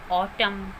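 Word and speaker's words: autumn: जब भी वर्ड के लास्ट में एम एन इकट्ठे आते हैं, एम एन वर्ड के लास्ट में आते हैं तो एन वहाँ पर साइलेंट रहता है। For example ऑटम, column, dam. This word is डैम। तो यहाँ पर वर्ड के लास्ट में एम एन है और यहाँ पर एन जो है वो साइलेंट है।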